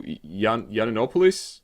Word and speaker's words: Yiannopoulos: And obviously in charge of the tech division is the most tech person Britain could ever produce, Milo Yiannopoulos. Is that correct pronunciation?